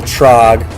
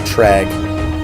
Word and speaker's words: Trag: It's not General Trog, like I said before. It's actually General Trag.